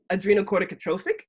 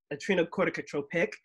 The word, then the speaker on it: adrenocorticotropic: And actually there's four ways to pronounce it. Adrenocorticotrophic, adrenocorticotropic, adrenocorticotrophic, or adrenocorticotropic.